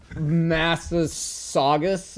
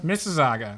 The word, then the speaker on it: Mississauga: Only the people from there can pronounce it. So, Massasaugus? Mississauga? Mississauga.